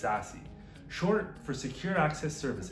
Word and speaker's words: SASE: In 2019, Gartner coined the acronym SASE, and yes, it's pronounced SASE, short for Secure Access Service Edge.